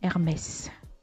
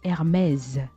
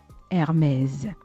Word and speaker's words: Hermès: Mais lorsque vous la citez, ne dites plus Hermès. Ne dites plus Hermès parce que le S à la fin, ça se prononce plutôt comme un Z. Donc, il faut dire Hermès. Hermès.